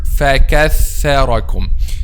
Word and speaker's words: فَكَثَّرَكُمْ: An example for this, the word فَكَثَّرَكُمْ.